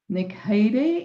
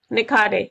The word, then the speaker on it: Nikhade: She is Niki. Is that correct? This surname. Did I pronounce that correct? Nicardi. Yeah, please. Okay, welcome Nicardi.